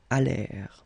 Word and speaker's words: allèrent: And then this ENT at the end, you know, the mark for the plural, well, clearly you don't pronounce it, so you get allèrent.